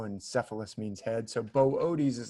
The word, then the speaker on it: Boötes: So I think it's pronounced Boötes. You see those 2 dots that I put above the second O. Those 2 dots are like to say you pronounce the O twice. Otherwise, we would just think, it must be boots, right? or booties or something.